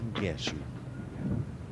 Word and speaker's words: Ngeshu: South African viewers may pronounce it a little differently. Did chat to her and her father Simon, and it is definitely Ngeshu.